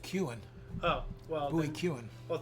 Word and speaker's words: Kuhn: I don't know why I love saying that name, but it's actually pronounced Kuhn.